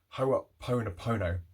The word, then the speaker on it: Ho'oponopono: really does work so that prayer is ho po no pono if you can't pronounce that don't worry it took me about eight months um i used to say hope in oppo no ho op pon a pono please anyone correct me